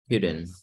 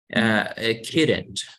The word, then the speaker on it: couldn't: I tried to find her, but I called Couldn't. yet. Me cuesta trabajo pronunciar el Couldn't. Así, couldn't. Como si no existiera L, como si no existiera la O.